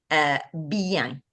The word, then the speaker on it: bien: But here in French, we will do it as bien. Okay, so bien, Be bien.